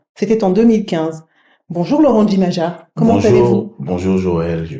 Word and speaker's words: Jimaja: C'est très bien, vous avez réussi à insister sur le J qui se prononce Djimadja. D'accord, Djimadja, parfait.